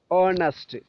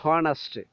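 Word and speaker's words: honest: honour there is no honour എന്നല്ല നമ്മൾ പറയേണ്ടത് ഓ നേരത്തെ നമ്മൾ വോവൽ സൗണ്ട് ഓ ആ ഓ മാത്രം മതി honour ഓണസ്റ്റ് നോ ഹോണസ്റ്റ് ഹോണസ്റ്റി എന്നൊന്നും പറയേണ്ട ആവശ്യമില്ല ഹോണസ്റ്റി ഹോണസ്റ്റി this is second our this is third അവർ അർ ഓക്കേ എച്ച് അവിടെ സൈലൻറ് ഹ് അക്ഷരം ഹ് സൗണ്ട് സൈലൻറ് ആയിരിക്കും ശ്രദ്ധിക്കുമല്ലോ നെക്സ്റ്റ് വി ഹാവ്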